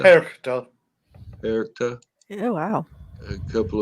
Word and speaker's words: Perchta: Frau Perchta? Perchta.